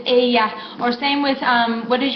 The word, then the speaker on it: ella: Entonces, the double L that we're used to saying, that's what we call it in English, the double L, se pronuncia como Y en inglés. Entonces, ella looks like ella, but no, it's ella.